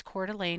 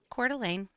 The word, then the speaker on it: Coeur d'Alene: firefighters trying to fight a brush fire in Celane. And yes, Cordelane is how it's pronounced. You have heard it a lot of different ways on the news that have been pretty uh creative, but wrong. Celane.